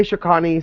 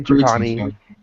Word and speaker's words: Shakani: Some say Shakani, some say Chakani. It does not matter to me.